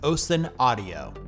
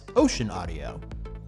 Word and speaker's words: Ocenaudio: Coming in at number one, the best free Audacity alternative is Ocenaudio, often mispronounced as Ocenaudio.